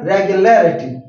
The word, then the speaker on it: regularity: when I pronounce it and regularity the stress will come before l in that way regular regularity so this stress shows